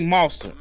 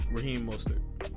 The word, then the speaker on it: Mostert: Let's take Monster. What's Monster? So say Mostert. What's his name? How you pronounce his name? Raheem Mostert.